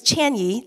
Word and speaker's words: Qianyi: It's spelled with a dash with a capital I-E. It's actually Chinese. It's Qianyi, Qianyi.